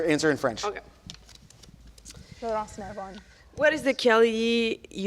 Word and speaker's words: Laurence: It's It's like Laurence. Laurence is like a boy name in Yeah. English, but in French it's actually a girl name.